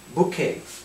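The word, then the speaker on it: bouquet: Букет. Букей. Вот это все слово читается букей.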